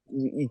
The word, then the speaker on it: Yeoh: I Mike, think it's how do you say Yo.